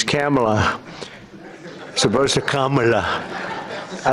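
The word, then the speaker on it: Kamla: first name that we have, but fortunately it's pronounced different. It's Kamala as opposed to Kamala.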